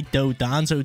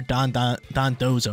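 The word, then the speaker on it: Dondozo: here going up against a dodanzo team or Don Don dozo that's how you pronounce it Don doso team but it does have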